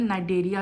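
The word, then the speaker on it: Cnidaria: आज हम अपने लेक्चर में जो है नेक्स्ट फाइलम फाइलम नाइडेरिया जो है वो स्टार्ट करेंगे। This is phylum नाइंरिया C silent है। इसको प्रोनाउंस आप नाइरिया करोगे।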